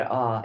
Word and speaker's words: Ah: At her throat, a red Ah, A-H. Or look at the Ah syllable.